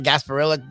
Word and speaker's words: Gasparilla: They're in the Gasparilla, the Temple Bowl, which is pretty cool. Gasp being the key syllable there. That's unfortunate.